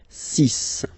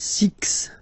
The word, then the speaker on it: six: ending with this, well, you'll have to pronounce it like s. Okay? So you get the cis pronunciation sis. Sis. Okay. So it's not six, it's sis.